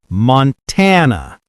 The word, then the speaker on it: Montana: Montana. Stress on tan.